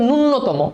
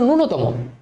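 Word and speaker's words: ন্যূনতম: এই শব্দটার উচ্চারণ করি নূন্যতম এটা আসলে নূন্যতম সঠিক উচ্চারণ না জানার কারণে এই বানানটা আমরা ভুল করি। এটার আসল উচ্চারণ হচ্ছে নূনতম।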